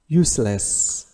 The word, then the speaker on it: useless: useless غير مفيد، هنا تنطق س وليس الز.